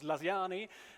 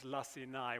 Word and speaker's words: Lacinai: here we are together thank you for pronouncing my last name correctly the the second time at least now you heard two versions of it first it was laani and then it was lassai which is actually the